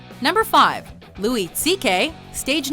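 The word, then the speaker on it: Székely: of those unfamiliar with Hungarian names it's actually pronounced CK so CK works as a remarkably close approximation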